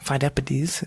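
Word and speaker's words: Pheidippides: so they sent this man named four deputies fine deputies that's how you pronounce it he ran from marathon all the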